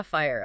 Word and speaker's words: FHIR: This is where we get to fast healthcare interoperability resources which is uh thankfully pronounced fire. Ah fire.